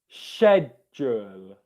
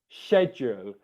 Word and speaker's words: schedule: um yeah so so the way that you would pronounce it in british english pronunciation is sh the sh sound and then e after is shed jewel schedule schedule where you're making a